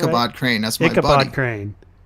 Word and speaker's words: Ichabod Crane: Kikabron Crane. Did I say it right? Ichabod Crane. That's my Ichabod buddy. Crane. You don't say the II. No, it's just Ichabod.